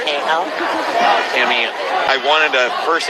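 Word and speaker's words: Kahel: Yes, it's T A M M Y uh K A H E L but uh pronounced as Kale.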